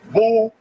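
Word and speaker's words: Boulé: are in it too known as Bo pronounced Bole the group is here see ble ble b o l e known as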